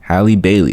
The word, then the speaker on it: Halle Bailey: I said Halle Bailey. Halle Bailey. That's how you say it.